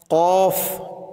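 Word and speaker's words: ك: আর এটা হচ্ছে কাফ কাফ এটা একদম পাতলা হয়ে আসবে কাফ আলিফ জবর কা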